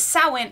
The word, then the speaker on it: Samhain: It says Samhain, and it is pronounced Samhain. It doesn't look like it is, but this is a holiday.